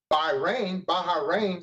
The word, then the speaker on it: Bahrain: Like I say, we pull into Bahrain is the way they pronounce it in the Middle East, and we're being offered opium.